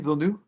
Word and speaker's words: Villeneuve: That's how you say his name, Villeneuve?